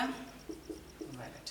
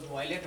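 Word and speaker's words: wallet: आप निकालते हैं क्या, वॉलेट, है ना। तो स्पेलिंग क्या होता है ध्यान रखा करिए, सिर्फ बोलना नहीं है। अब इसी को कोई वॉयलेट बोलते हैं, वॉयलेट तो हिंसात्मक हो जाएगा। चलिए हो गया ना, पर्स हो गया।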